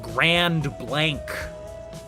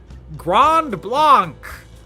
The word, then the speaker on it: Grand Blanc: It's like naming a town G R A N D space B L A N C and pronouncing it Grand Blank.